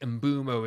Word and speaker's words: Mbeumo: I've been saying over the last few days and I think embumo is the right way to say it and you got to